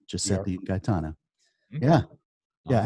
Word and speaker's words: Giuseppe: You can pronounce their name? Yeah, Giuseppe and Gaetana Di Arpa.